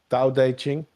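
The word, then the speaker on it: Tao Te Ching: and Yeah, but I think the T's are pronounced with D's. Da da ching by La.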